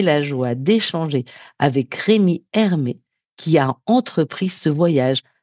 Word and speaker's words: Hermetz: Alors, le livre est disponible partout, à la Fnac, sur Amazon, euh, et Hermé s'écrit Hermetz. Donc, Rémi Hermé.